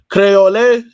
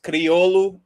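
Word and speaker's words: Kriolu: Um, now like cuz I know I know um Kver Verdians, they speak the language called Crayole. That's is am I saying it right? is is creolu which like there's a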